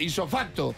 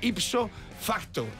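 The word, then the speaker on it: ipso facto: rodar saca la colación isofacto isofacto lo decimos así pero es ipsofacto lo que pasa que no lo pronunciamos t tan así porque si lo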